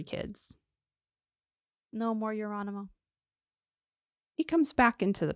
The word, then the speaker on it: Geronimo: Oh, it's Geronimo. But they pronounce it like an H because it's Geronimo Spanish.